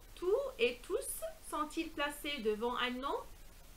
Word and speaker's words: tous: Donc le S final s'entend à l'oral. Exemple: les cours sur l'environnement sont difficiles, mais tous sont passionnants.